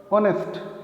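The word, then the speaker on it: honest: शुरू होते हैं बट with a vowel sound because the first consonant is silent। लेकिन होता क्या है, वो वोवेल की आवाज़ से शुरू होता है। जब हम प्रोनाउंस करते हैं कॉन्सोनेंट साइलेंट होता है। फॉर एग्जाम्पल ऑनेस्ट, ये एच से शुरू है, कॉन्सोनेंट से शुरू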